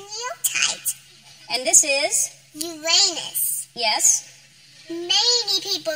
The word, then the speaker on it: Uranus: Uranus. Yes. Many people like to joke about the name of this. It's actually pronounced Uranus.